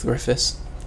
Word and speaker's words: Griffiths: All it is David Griffiths, but it's spelt Welsh. It's spelt in the Welsh way, so David Griffiths.